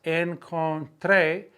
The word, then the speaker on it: encontré: Pero las encontré, accent on the E, in my jacket's pocket.